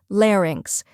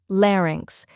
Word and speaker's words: larynx: let's break it down first we have Lair which rhymes with air or bear next is inks where